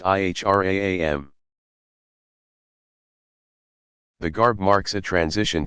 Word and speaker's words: ihram: the plain white wraps called the Ihram pronounced ihr a am the garb marks a